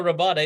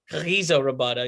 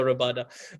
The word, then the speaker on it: Rabada: Even people say Kagiso Rabada. It's Kagiso Rabada. You got to put the Arab in there a little bit, Kagiso Rabada.